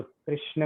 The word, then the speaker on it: कृष्ण: कृ रूफड़ा कृष्ण। रूफड़ा। हाँ, जो रू, ऐसा रू वाला टाइप का थोड़ा सा प्रोनाउंसिएशन, उच्चारण होता जी।